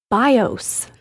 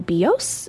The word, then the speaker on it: BIOS: you can Flash the BIOS it is not the BIOS it's not the BIOS and it's I get it it's confusing it's all caps it's B ioos but that is bios now see that's now